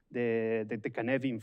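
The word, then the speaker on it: Cynefin: It's the Canevin framework. The pronunciation is different than the writing by Dave Snowden.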